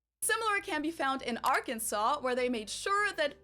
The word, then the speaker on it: Arkansas: Actually, it should be pronounced in three syllables with the final Silent, the A in each syllable with the Italian sound, and the accent on the first and last syllables.